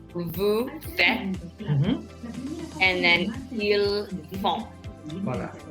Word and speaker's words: faites: No, the S is silent, remember. Vous faites. vous faites, and then ils font.